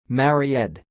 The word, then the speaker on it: Maryed: the word you see it sounds like Mary ed Mary ed I will